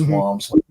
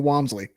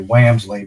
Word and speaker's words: Wamsley: Um most most people mispronounce it, say Whamsley, but you got it right.